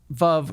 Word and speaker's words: Veuve: as well uh so V rhymes with love and it means Widow